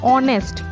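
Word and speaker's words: honest: Consonant है English में, पर जब हम इसको प्रोनाउंस करेंगे ना तो हम यहाँ एच को हटा देंगे, मतलब एच साइलेंट रहता है, हम बोलते हैं ऑनेस्ट। ओ, ओ, ओ स्वर है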